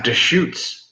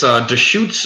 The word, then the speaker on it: Deschutes: good yeah but yeah Deschutes I thought I was like discovering something you know oh good it's just shoots black beauty Porter I